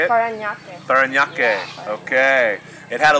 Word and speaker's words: Parañaque: Parañaque. Yeah. Okay. It had a little trouble pronouncing that, but it was good, though.